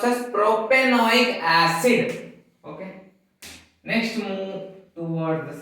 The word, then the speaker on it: propanoic acid: The first, propanoic acid, we pronounce as propanoic acid.